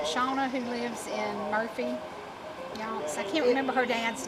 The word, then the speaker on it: Yonce: Yonts.